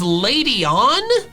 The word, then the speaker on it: Ledian: If you look at words that end in DIAN, like Ladyin, they're all said like Ladyin, like guardian, comedian, radian, meridian, Ladyin. But apparently, the official pronunciation for Ladyin is Ladyon?